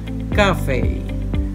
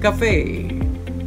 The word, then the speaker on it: cafe: talk about this word that in british english the word is stressed on the first syllable cafe cafe in american english cafe cafe number eight let's talk